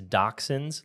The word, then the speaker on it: dachshund: right um it's dot sound it out it's dachshunds like toxins t-o-x-i-n-s of Colombia no but